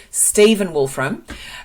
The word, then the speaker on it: Stephen Wolfram: Matt wolf from God I've been saying his name wrong Stephen Wolfram um and so this is where this has